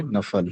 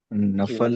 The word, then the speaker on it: نفل: ثواب دیا جائے گا۔ اس کا صحیح تلفظ ہے نفل، جی نفل، نفل۔ اور اس کی پھر